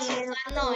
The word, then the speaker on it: Soekarno: Soekarno dibaca Soekarno ya. Jadi nama orang-orang terdahulu itu akan tulisannya seperti ini nah ya, pakai soe tapi dibacanya Soekarno.